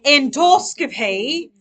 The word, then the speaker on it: endoscopy: Endoscopy. All right. If you say it in a British accent, it'll help you say it correctly.